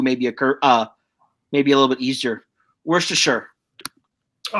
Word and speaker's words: Worcestershire: Worcestershire. Oh. Like the sauce. Worcestershire. We're Worcestershire. See, that's always mispronounced. Yeah. Worcestershire. So it's okay. W-O-R. I've been corrected. E-S-T-E-R Shire S-H-I-R-E. Worcestershire.